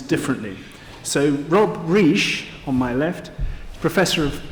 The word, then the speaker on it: Reich: and we should all make a mental note pronounced riche is one of three people with that name